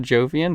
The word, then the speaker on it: jovian: letters dude j-o-v wait it's pronounced jovian but i'm not giving you anything else j-o-v-i-a-n that's what you would call